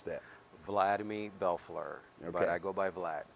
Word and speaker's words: Bellefleur: your name on the screen how do they pronounce that fly to me Bellefleur everybody I go by black right and if